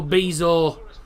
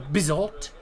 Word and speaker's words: Bizot: Unai Emery saying Marco Bizzo wasn't dull. Unai Emery saying Marco Bizzo wasn't dull. Oh, he'll have had fun trying to pronounce it. Marco Bizot.